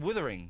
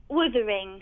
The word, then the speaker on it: Wuthering: It's not pronounced Withering. She didn't pronounce it Withering. Say it again. Wuthering. It's Wuthering, though.